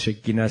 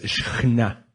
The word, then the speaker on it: Shekhinah: No es Shekinah, sino es Shekhinah.